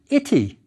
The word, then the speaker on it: ity: biliteral right next to the I biliteral so the word was pronounced ity the determinative shows a